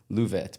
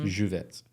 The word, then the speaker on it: Lluvet: you for having me I had to check the pronunciation on that cuz it's spelled LL u v t so I wanted to say louette but it's juvet most of my life